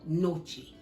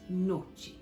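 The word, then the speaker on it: gnocchi: dumpling noodle it's called noche all right it's spelt with a g like g-n-o-c-c-i but you don't pronounce the g in italy so it's noche but today right now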